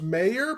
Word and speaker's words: Meijer: He goes, it's pronounced mayor, but he spells it with a J.